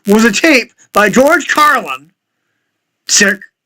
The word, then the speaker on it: Carlin: a tape by George Carlin sick s i k c because they spell his name wrong it's c c a r l i n not c r l like here it's Carlin not caran entitled eight words you